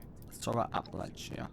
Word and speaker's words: Appalachia: You know it's pronounced Appalachia.